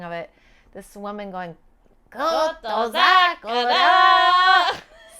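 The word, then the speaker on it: Kotozakura: This woman going, Koto Zakura. So that may be just the way his name is supposed to be pronounced. That's right. So who is this? Koto Zakura.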